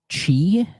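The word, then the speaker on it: χ: they did Kingdom Hearts Chi is that how that's pronounced the web browser one yep it has like the X but it's not pronounced X it's pronounced chi I and guys most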